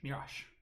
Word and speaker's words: Mirage: set check it's uh mirage mirage mirage that's that's how you pronounce that honestly i think that